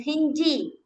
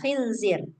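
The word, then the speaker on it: خنزير: kan kayak ro nih kan huruf znya ini cuman ada titiknya di atas. Nah, bacanya kayak huruf Z. Kayak huruf Z orang Indonesia. Khinzi zi zi. E bukan khinji. Khinji. Enggak enggak gitu dia bacanya tapi zai. Z. Nah, gitu. Khinzi coba. Hinzir gitu. Heeh. Iya. Khinzir.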